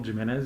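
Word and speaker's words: Gimenez: properly would you please say your name and spell it for the record my name is jimenez that's common spelling jimenez is g as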